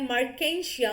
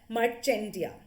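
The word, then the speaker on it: Marchantia: और लिवरवर्ट का सबसे इंपॉर्टेंट एग्जाम्पल आता है मर्केंशिया, और यू में प्रोनाउंस इट एज मर्चेंटिया। ठीक, मर्चेंटिया भी आप बहुत बार सुनेंगे, पर मर्केंशिया जनरल प्रोनाउंसिएशन है।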